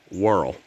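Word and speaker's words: whorl: a world loose strife not based on the planet but it's spelled a different way w-h-o-r-l world it's so called that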